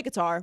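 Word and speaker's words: Qatar: People say guitar, but I think it's Cutter.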